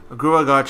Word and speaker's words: Gruagach: Gruagach, or however you say that. Gruagach! Gruagach is how you say it.